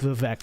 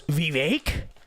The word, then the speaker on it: Vivek: you know it's Kamala they do the same thing with vivec don't they don't you know it's Vivek if you guys are